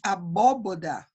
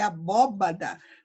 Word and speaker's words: abóbada: F, abóboda, na verdade é abóbada, também é um erro de ortoepia, porque eu troquei a letra.